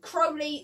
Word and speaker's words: Crowley: But from Neil Gaiman, he has said that it's pronounced Crowley, so it is Crowley.